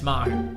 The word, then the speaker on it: Maher: It looks like me, but it's not. It's Maher, bars.